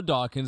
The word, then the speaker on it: Dawkins: My co-host thinks your name's Dawson.